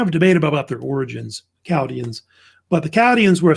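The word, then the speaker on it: Chaldeans: The H is silent. They don't pronounce it.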